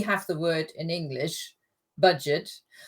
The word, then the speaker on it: Budget: the word in English, budget. But in German, it's pronounced the French way. So Jugendherbergen sind budgetfreundliche Unterkünfte. Budget. We've got French in German.